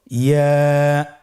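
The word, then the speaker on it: ي: ইয়া উচ্চারিত হয় জিহ্বার মধ্যখান তার বরাবর উপরে তালুর সঙ্গে লাগিয়ে উচ্চারিত হয়। আমরা জিহ্বার মধ্যখানটাকে উপরে তালুর সঙ্গে লাগিয়ে উচ্চারণ করি ইয়া।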